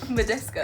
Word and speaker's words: Badescu: Badescu.